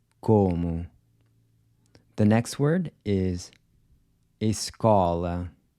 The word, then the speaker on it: escola: The next word is escola. This is an open O. Escola. Notice how open your mouth is when you say escola.